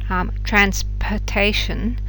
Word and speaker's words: transportation: So what you'll have heard is that in the unstressed syllables, transportation, the sound stops being the full sound and becomes this reduced sound, which you find very often in English in unstressed syllables.